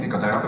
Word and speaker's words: Nicotero: Did I pronounce it properly? Nicotero. Your name? Nicotero.